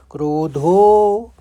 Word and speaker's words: क्रोधो: कामात क्रोधो, क्योंकि अब अवग्रह है तो ज़्यादा खींचना है धो को, क्रोधो फिर भी जायते।